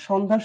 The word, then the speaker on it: সন্ধ্যা: আর সন্ধ্যা শব্দটি যখন উচ্চারণ করি তখন তালবস্যের মতো উচ্চারিত হয়, কখনো ছয়ের মতো উচ্চারিত হয় না। সন্ধ্যা, তাহলে কি হবে? সন ধা, সন ধা।